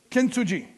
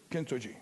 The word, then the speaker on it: Kintsugi: Y a-t-il quelqu'un qui a de le prononcer mieux que moi? Kintsugi. Kintsugi.